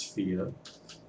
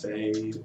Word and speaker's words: Fe: but it is thea that is the swedish pronunciation for the word fairy i believe and the